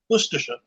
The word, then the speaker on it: Worcestershire: Worcestershire. There you go, Chad. That's easier than how we say it. I had like 14 syllables in there.